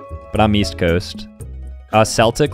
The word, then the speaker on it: Celtic: Celtic, like the Boston Celtics. Some people say Celtic, I think.